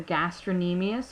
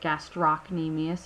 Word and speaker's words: gastrocnemius: The gastrocnemius, or you can pronounce it gastrocnemius if you prefer, connects our lower leg to our ankle through the Achilles tendon.